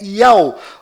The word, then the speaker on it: YAUH: Este israelense é mais uma prova que a verdadeira pronúncia deste nome é Iau.